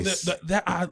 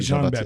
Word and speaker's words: Jean-Baptiste: Jean-Baptiste. Jean-Baptiste.